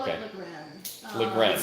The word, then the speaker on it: Lagrein: Actually, there are 3 ways to pronounce it according to Google. Okay. Lagran, the all-knowing authority, right, on wine. Lagran, Lagrein, Lagrein. I call Okay. it Lagran.